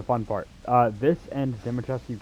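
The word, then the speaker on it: Dimitrescu: Uh, this and Datascu Castle are actually or as as the Duke pronounced it, Damatresque.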